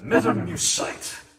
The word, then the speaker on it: Mutamycete: Pronounced metamucite.